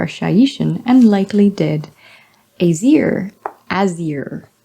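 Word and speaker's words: Azyr: Azir, to rhyme with deer.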